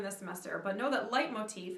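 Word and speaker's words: leitmotif: uses a technique that wagner developed called a light motif it's something we're going to talk about a little bit later in the semester but know that light motif it's spelled l-e-i-t-m-o-t-i-f light motif is when music is associated with a particular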